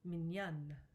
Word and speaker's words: mignonne: However, to make it feminine, you double the letter N. This also changes the pronunciation, mignonne.